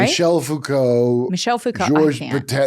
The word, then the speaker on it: Michel Foucault: Michael Foucault, right? Michel Foucault.